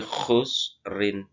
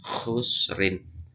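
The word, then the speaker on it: خسر: Innal insana lafi khusrin.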